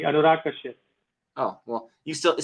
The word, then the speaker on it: Anurag Kashyap: No, you actually pronounce it quite correctly. Anurag Kashyap.